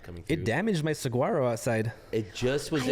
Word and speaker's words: saguaro: Did you know it was saguaro when you moved here, or did someone have to correct you? I think I got corrected. Because a saguaro is spelled with a G.